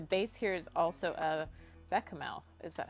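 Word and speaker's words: béchamel: Arush says, I think the base here is also a bechamel. Is that how you pronounce it?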